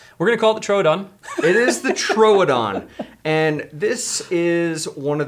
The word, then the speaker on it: Troodon: In Jurassic Park, it's pronounced Troodon, so we know that that is the most scientifically accurate source. Yes. So we're gonna call it the Troodon. It is the Troodon.